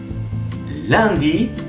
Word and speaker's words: Lundi: Lundi. Miren cómo estoy pronunciando. Lundi. Si revisan el curso de pronunciación, S-U-N siempre se va a sonar como el sonido A. El A de A, ¿qué dices? A. Lundi.